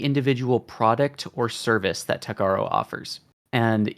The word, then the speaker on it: Techaro: which, by the way, Techaro is the canonical pronunciation of it, and it is intended to be one letter off from Tech Bro.